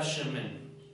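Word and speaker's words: שמן: Esta palabra aceite, en diferentes palabras hebreas, que es para aceite, esta palabra aceite se pronuncia mi cabeza con Dishanta Shemen.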